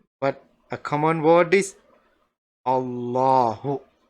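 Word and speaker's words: الله: And also this lam in the middle, it is not like the same lam we would normally say. So you don't say Allahu. No, this lam has a different sound.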